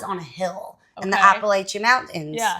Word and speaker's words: Appalachian: This festival is on a hill in the Appalachian Mountains. Yeah. How do you say it? Appalachian.